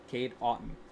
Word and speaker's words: Cade Otton: Cade Otton, I believe, actually, is how you pronounce that.